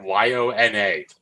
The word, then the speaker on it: Yona: Yona.